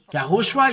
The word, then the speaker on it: Yahushua: uh name and it's from the the Jew yahushua is his name and this is the way to pronounce this but the Jesus wor is Jesus